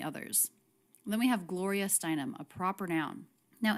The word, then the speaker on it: Steinem: a proper noun now anytime we have a name it's the last word in the name that's the most stressed so gloria galore the stressed syllable there is stress but steinem the stressed syllable there to me is even more stressed gloria steinem steinem the stress syllable of her last name would be the most stressed in the group of her name gloria steinem glorious guaranteed